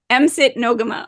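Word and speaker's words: Msit No'kmaq: spelled yes yeah so M sit nogama with the Ks are sound like a g okay and anyway that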